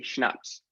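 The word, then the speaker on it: CHNOPS: oxygen phosphorus and sulfur I say Snax if you put all those letters together that's kind of how you can say the word in the chat spell that is it an acronym kind of thing so yes CH n o PS carbon hydrogen nitrogen oxygen phosphorus and sulfur awesome some people say canals but I don't think that's that fun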